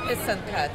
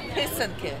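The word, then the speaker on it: писанка: Because everybody says pisanke, and they don't learn the way to pronounce it. It's pisanke. Pisanka, the eggs. Yeah, oh, the traditional eggs. Oh, so it's pisanka.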